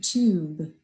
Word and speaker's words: tube: the vowel sound and now i'm going to put a silent e at the end of it and it's going to be tube so it's got that